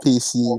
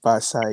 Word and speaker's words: Piesie: And point of correction, your name is Piesie, not Pasai. Yeah, I know it.